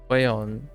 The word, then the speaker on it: Huion: I don't remember how other people pronounce it, but it's Huion.